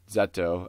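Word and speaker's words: ゼット: Character named Z, or Zeto as they pronounce it in Japanese, who has spiky hair and a giant mechanical arm.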